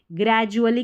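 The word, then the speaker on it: gradually: याद भी हो गया होगा, ड्यूअली नहीं जुअली, ग्रेजुअली का मतलब धीरे धीरे, याद हो गया होगा इसका मीनिंग भी, इसकी स्पेलिंग भी, इसका उच्चारण भी, ठीक है।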